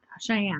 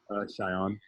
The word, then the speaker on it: Cheyenne: So say what Cheyenne, right? That's how you say it. Cheyenne.